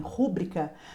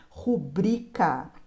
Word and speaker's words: rubrica: Apesar das pessoas falarem rúbrica, a pronúncia correta é rubrica.